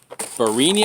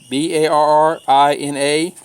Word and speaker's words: Barrina: and eight pack of Ferrini I think I picked how they pronounce it VAR RI na there um LCD light